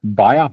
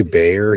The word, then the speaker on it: Bayer: all those drugs yeah isn't a buyer b b y we say Bayer here for some reason but yeah I get